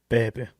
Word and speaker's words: Pepe: I don't know how you pronounce it properly. Yeah, Zach, do you want to correct me? Pepe.